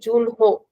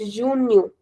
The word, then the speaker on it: junho: Abil or Abu May you jul remember that we don't read the H as her. It's a very common mistake that you know students make. They call it Junho. It's nothing like that. It's junu junu aosu.